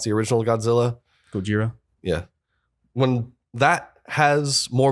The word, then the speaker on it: Gojira: When Godzilla, or however you want to pronounce the original Godzilla, Gojira.